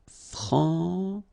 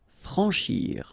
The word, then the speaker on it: franchir: Franchir. Remember, C and H together. Sh. Franchir. A-N, en. Franchir.